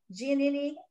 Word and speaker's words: Giannini: Giannini, that's how you say his name, the bank president, actually used this as his little vacation home occasionally since the bank owned it.